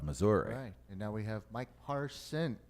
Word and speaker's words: Mike Parson: longer governor of Missouri and now we have Mike parson Mike parson oh you said it right that's right I